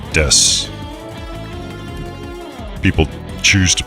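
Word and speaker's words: です: desks or dessous is technically desks ooh but pronounced desu people choose to pronounce it however they want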